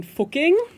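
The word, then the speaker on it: Fucking: Oh, could you possibly mean fuking, which this is not a joke. So, it's an Austrian city which is called Fuking. I'm not pronouncing it. I'm deliberately just pronouncing it German, but they do sell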